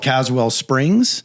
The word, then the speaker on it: Caswell Springs: Today, Bobby, and I love these transitions, Bobby is today pastor of a church called Caswell Springs. Am I pronouncing that correctly?